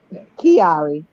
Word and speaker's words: Chiari: to say the name i was like okay kiari see that that actually that's the funny thing if you look at nae it's pronounced actually just like nae's middle name but